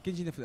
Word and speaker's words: Keiji Inafune: Alors, je sais pas comment ça se prononce, de Keiji Inafune ou un truc comme ça. C'est Keiji Inafune.